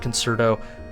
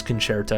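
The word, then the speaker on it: Concerto: hitting stuff and also if people pronounce it conserto don't um actually them in their comments however just know for a fact that you are cultured because you know it is canare to so take it from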